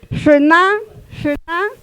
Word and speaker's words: Shuna: Shuna, la segunda sílaba es cerrada, por lo tanto jala la fuerza o el acento de pronunciación y se cumple.